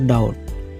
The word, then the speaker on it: doubt: DOUBT, B2 silent, উচ্চাৰণটো হ'ব ডাউট, ডাউট মানে সন্দেহ।